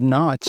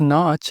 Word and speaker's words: notch: Americans pronounce the word notch very differently from the British uh in American English this vowel is more open so it's Notch and not Notch cop